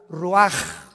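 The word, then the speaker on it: רוח: capítulo y exhaló Isaac el Roach así como suena se pronuncia la c en hebreo como J ruaj se le só y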